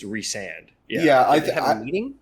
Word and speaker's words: Rhysand: Pronounces Rhysand differently this time.